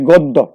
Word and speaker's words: গদ্য: তেমনি যদি বলি গদ্য, গ দয় জফলা, সুতরাং দয়ের সাথে জফলা থাকা এখানে দ কিন্তু দুইবার উচ্চারিত হবে।